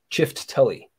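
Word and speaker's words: Çifteli: So the C in Ciftelli is pronounced ch as in church. So Ciftelli.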